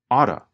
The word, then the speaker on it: ought to: Ought to changes to oughta.